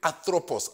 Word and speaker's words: anthropos: Okay, it is the Greek word anthropos. I'll spell it for you.